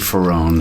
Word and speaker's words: Ferrone: Anyways, you know, if I if somebody asks me what my name is and I say Steve Ferrron, they say what? If I say Steve Ferrroni, they get it right away. Yeah. In proper Italians, Ferrron. Yeah. So I say Ferrroni.